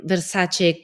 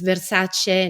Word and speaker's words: Versace: It comes in my mind, the Versace communication campaign. I don't know if you saw that. It's Versace, not Versace.